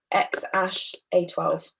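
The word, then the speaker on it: X Æ A-12: Okay, who's the father of, and this is pronounced as XASH-A12.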